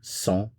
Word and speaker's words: sent: Notice the pronunciation, sent, sent, sent.